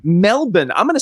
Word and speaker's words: Melbourne: Melbourne. Melbourne. I'm going to spell that for those of you who are not in Australia. It's Melbourne. Many of us might have pronounced it as Melbourne.